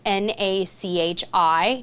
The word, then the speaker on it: Nachi: Personally, I like Nachi a little bit better, and that is spelled N-A-C-H-I, Nachi.